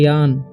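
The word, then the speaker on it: yawn: पर लिखा हुआ है वाई ए डबल एन ठीक है इसे याव नहीं पढ़ना है इसे पढ़ना है यान ठीक है य पर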